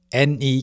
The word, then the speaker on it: 네: Therefore, your ne can sound like de, your m wo can sound like b wo.